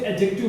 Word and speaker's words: adjective: इसमें D actually में silent होता है, इसलिए एडजेक्टिव बोलते हैं।